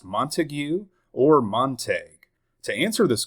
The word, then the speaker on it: Montague: And in those it seems that this name is clearly pronounced Montigue. So does that mean the county of Texas as well as the city within the same county is pronounced Montigue?